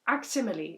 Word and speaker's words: Aximili: you with one thing ax's first name is aximili if I'm reading it correctly like to rhyme with facsimile?